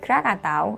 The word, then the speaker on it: Krakatau: most devastating volcanoes krakatoa krakatoa or the locals say krakatau had an eruption far in 1883.